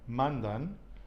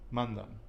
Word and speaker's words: mandan: I'm not saying mandan, I am not saying mandan, it's mandan. Okay? So it is on the penultimate with that nose rule.